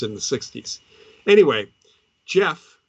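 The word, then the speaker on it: Gef: Anyway, Jeff, that's spelled G-E-F, the talking mongoose, was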